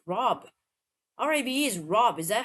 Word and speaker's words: Rabe: So I was like, well, maybe it's not pronounced rape then. It's Rob.